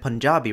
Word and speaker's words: Punjabi: Also a bit nitpicky, but Telugu Punjabi should be pronounced Telugu and Punjabi, respectively.